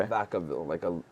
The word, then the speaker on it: Vacaville: Then we had a special show in, I'm going to butcher the name. I think it's Vacaville. Okay. Vacaville, yeah.